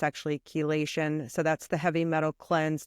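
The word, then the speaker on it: chelation: have any questions K I was saying it chilation but I was pronouncing it wrong it's actually kation so that's the metal cleanse that I was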